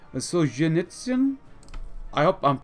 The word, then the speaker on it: Solzhenitsyn: 17th October under Alexander Solzhenitsyn. Which, I did ask you guys yesterday whether I pronounced his name correctly. Some of y'all said the ZH is more like a G as in genre. Solzhenitsyn?